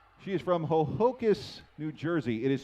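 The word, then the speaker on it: Ho-Ho-Kus: graduate student at six - she is from ho-ho 'kiss New Jersey it is spelled h o - h o - kay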